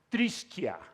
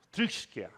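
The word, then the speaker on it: θρησκεία: se escribe de esa manera rara y se pronuncia trisquia trixquia es la pronunciación más aproximada eso también con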